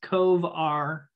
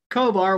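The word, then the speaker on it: covr: There was one done by generics, and then I think it's Cove R, I think is how you pronounce that.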